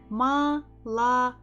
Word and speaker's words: молоко: Not really, so we have to pronounce it as A. Ma, L. Next we have O again. Is it stressed or not? It is not, so again we have to say it as A. Next one is K, and the final one is again O. Is it stressed? Да. So it has to be as it is.